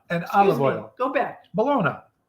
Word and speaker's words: bologna: it's how it's spelled that's how it's supposed to say supposed to say Malona not baloney there you go but